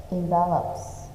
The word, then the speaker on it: envelope: It's called Robert's Envelopes. Okay, so Robert is a name. So you will say Robert with a chấm is here. Okay, raw and then birds. Envelope. We stress on the second sound.